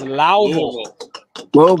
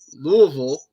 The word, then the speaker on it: Louisville: Louisville. It's Louisville.